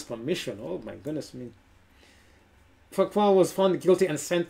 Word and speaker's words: Fouquet: Fouquet was found guilty and sent to the most